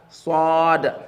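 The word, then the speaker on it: صاد: and spell it as swad fatha saw. Swad fatha saw. So you tell me the name of the letter, which is swad, stretched out.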